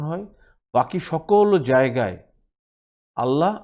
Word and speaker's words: আল্লাহ: বাকি সকল জায়গায় আল্লাহ আল্লাহ, মুখ রাউন্ড হয়ে আল্লাহ হেভি সাউন্ডে বা ফুল মাউথ, আপনি যেই শব্দই ইউজ করেন আপনি আপনার মতো বুঝে নেবেন।